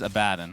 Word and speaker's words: Abaddon: The correct pronunciation is Abaddon.